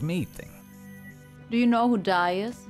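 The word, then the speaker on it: Dai: do you know who dies die not like the verb die it's spelled d-a-i i am unfamiliar with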